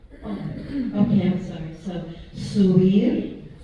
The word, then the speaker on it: subir: And the B is not real percussive, is it? No, It's almost some shade of B. and there's no B. It's all pronounced like B's in Spanish.